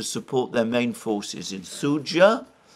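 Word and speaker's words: Суджа: They tried to advance in this area as well to support their main forces in Sudzha. Apparently you pronounce the D.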